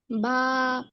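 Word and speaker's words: ب: বা। বা এটা শব্দের কোথায় আসবে? মাঝে। শব্দের মাঝে আসবে। এই বা হরফটা উচ্চারণ করতে হবে কোথা থেকে বলেন তো? মাখরাজ মনে আছে? বা। দুই ঠোঁটের ভিজা অংশ থেকে।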